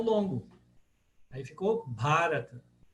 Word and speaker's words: Bharata: Agora, vocês vão reparar aqui que a longa é o Ba. Então, Mahabharata. Mahabharata. Não é barata, é Bharata. Por quê? O terceiro A de trás para frente é o longo. Aí ficou Bharata, Mahabharata.